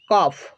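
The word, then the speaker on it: cough: কিন্তু যদি জি এইচ শব্দের শেষে থাকে তাহলে ফয়ের মতো উচ্চারিত হয়। যেমন রাফ, রাফ, টাফ, টাফ, কফ, কফ, এনাফ, লাভ।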